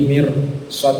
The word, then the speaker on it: مرصاد: Ini mirsad ini walaupun dia kasrah ya maksurah, tetapi membacanya tebal karena huruf setelahnya itu termasuk huruf sok istilah, maka roknya rok tebal. Inna rabbaka labil mirsad.